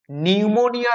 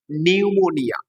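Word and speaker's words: pneumonia: Francis bacon ছোটবেলাতেই নিউমোনিয়া রোগে অসুস্থ ছিলেন। কি বললাম রোগটার নাম? নিউমোনিয়া। পি এন ইউ এম ও এন আই এ নিউমোনিয়া। উচ্চারণটা খেয়াল রাখবে। পিটা কিন্তু এখানে সাইলেন্ট।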